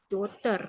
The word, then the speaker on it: daughter: Yang GH-nya silence tuh kayak daughter, ya, anak perempuan. Cara bacanya Daughter. tuh, kalau versi British tuh kayak gini. Bentar. Dota. Ya, Dota. Itu yang British. Kalau American, daughter gitu.